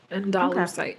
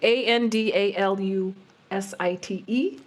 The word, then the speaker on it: andalusite: site I'm going to say I'm going to pronounce it like that andalite andalusite a n d a l u s i t e and andalusite no I like inite that sounds